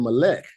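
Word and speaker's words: מלך: If they don't use the modern vowel points, the word for king, instead of saying Malek, they would say Malak. Malak, and it's spelled exactly the same way as Malek. This Malek has vowel points to switch the sound from the A class to an E class sound, right?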